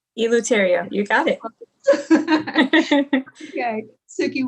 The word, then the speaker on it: Eleuterio: tsuki i apologize i'll probably say your last name wrong everyone does tourio eloteria you got it okay sookie welcome to enlightened